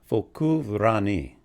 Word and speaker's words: Focu ranni: Okay, so this one is pronounced Focu Ranni, which of course I can't roll my R's better than that.